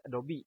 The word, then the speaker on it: Adobe: sepuluhnya Photoshop Oktober padamu ya Nah adopsi ini Adobe dibacanya ya bukan redup Kebanyakan orang kedopok juragan yang